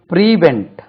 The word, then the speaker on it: prevent: த chief guest பிரிசென்ட் பிரிவென்ட் பாருங்க பிரிவென்ட் பிரிவென்ட் தடு தவிர் பிரிவென்ட் பி ஆர் இன் T stress lies on the second syllable பிரிவென்ட் பிரிவென்ட் பிரிவென்ட்ஸ் பிரிவென்டிட்